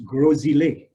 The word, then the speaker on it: Grosile: I know we all have our ways of pronouncing things, but just for the record, it's Grosile.